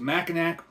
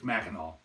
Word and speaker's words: Mackinac: familiar with the area it's spelled m a c k i n a c a lot of people want to pronounce it macac but I'm pretty sure it's maol and if I mispronounced